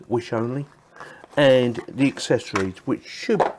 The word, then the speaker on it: Wissonly: feel quite nice actually it's called is that wish only I'm saying that's how it's pronounced wish only and the accessories which